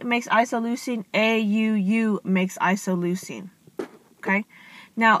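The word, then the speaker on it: isoleucine: codon sequence and they put them together so isoline that's how you pronounce it isoline has a common uh beginning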